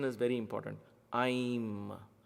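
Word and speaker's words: ऐं: Aim, not I am. Aim. So there is A-I-M, Aim, or I-I-M if you want to say. I put it in English because that's how it is there in the international Sanskrit transliteration, if you will. But the pronunciation is Aim. There is an I, you press that with the tongue.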